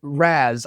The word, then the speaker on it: Raz: Well, Matt, don't say it like that. I mean, just say it normal, man. Just hey, Raz. Okay. Dan, thank you. Thank you, Raz.